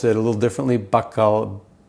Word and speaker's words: bacalhau: Bacalhau is how they pronounce it in Portuguese, something like that.